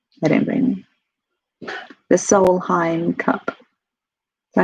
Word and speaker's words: Solheim: The Solheim Cup.